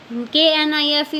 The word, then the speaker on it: knife: KNIFE में के फिर से मूक वर्ण है, ठीक है, साइलेंट है।